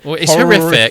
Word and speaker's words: HorRHIFFic: horrific horrific yes horri how do we pronounce it it's horrific it's horrific but what we did is we inserted uh Romford horror International Film Festival in the center of horrific so that's why it's misspelled horrific um and being dyslexic